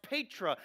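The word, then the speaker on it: Petra: or asked for simon his name was changed to peter which is actually pronounced patra and jesus said upon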